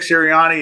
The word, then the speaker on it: Sirianni: Did I pronounce his name right, John? Nick Sirianni, yeah.